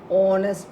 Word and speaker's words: honest: It is wrong because again H is silent here. So O is very evident, prominent, clear. Honest, pronouncing as honest.